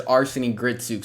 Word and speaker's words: Arseny Gritsuk: well, and I said I couldn't pronounce his name. Though I've since learned, I'm pretty sure it's Arseny Gritsuk, so I think I have it right now, which is good.